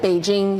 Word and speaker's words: Beijing: or something right and beijing might have been you know if you said beijing it would be said beijing you know you wouldn't say peaking or whatever yeah but when they